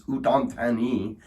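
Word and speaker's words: Udon Thani: So the proper pronunciation is udanti and uh again thank you uh for the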